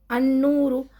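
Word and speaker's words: النور: बिद दीन है ना अनूर लाम साइलेंस नून के साथ अलिफ को जॉइ कर दिया अनू अन नूर अब मैं कंटीन्यूअस में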